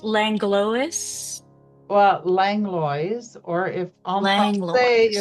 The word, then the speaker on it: Langlois: How can you pronounce it's Langlois? Well, Langlois, or if en français, it would Langlois.